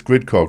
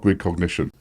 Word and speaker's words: Gridcog: so grid first thing it's grid Cog it's not grid cognition no we no one